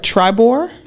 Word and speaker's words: TRIBOR: She is the president of, let me make sure I got it right, TRIBOR?